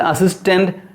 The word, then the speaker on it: assistance: i need some financial assistance to develop my company see where the stress should be given financial second syllable assistance second syllable develop second syllable company first syllable if you want to